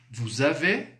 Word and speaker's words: vous avez: Mas olha a pronúncia, vous avez. Vous avez. Você está ouvindo um som de Z, não é? Esse som é devido ao fato de fazermos aí uma ligação.